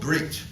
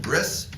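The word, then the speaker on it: ברית: It's called brit. Right? Or in the Ashkenazi Hebrew pronunciation, bris, but usually we say now brit.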